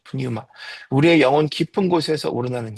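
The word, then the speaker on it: πνεῦμα: 자, 두 번째 예배는 영으로 드려야 하는데 여기서 말하는 영은 뉴마, 푸뉴마라고 하는데 뉴마, 피가 보통 잘 미국 영어에서는 묵음인데 어, 히브리어에서는 푸뉴마라고 합니다. 푸뉴마.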